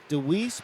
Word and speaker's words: DeWeese: Randy, can you shout out DeWeese, pronounced without the E on the end, family?